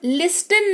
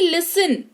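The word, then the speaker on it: listen: मुलायम या कोमल, लिस्टन नहीं लिसन सुनना, ऑफ्टन नहीं ऑफन यानी कि प्राय।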